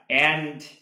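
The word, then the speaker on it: ended: বন্ধুরা আমরা অনেকে ভুল করে ইন্ড বলি, এটা উচ্চারণ অ্যান্ড, তার সঙ্গে যেহেতু এটা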